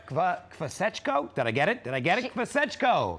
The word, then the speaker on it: Kvasechko: Kvasechko. Yes. 3 syllables.